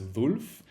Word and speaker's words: Wolf: German name, Wolfgang, and technically you pronounce Wolf actually as Wolf, but people pronounce it differently, and I don't mind either way.